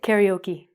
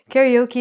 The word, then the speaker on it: karaoke: First one, we say "karaoke". Karaoke is when you sing, you make a fool of yourself in front of your friends.